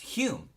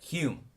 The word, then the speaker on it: Hume: was because he was Scottish H ome s pronounced Hume and she got so annoyed with people mispronouncing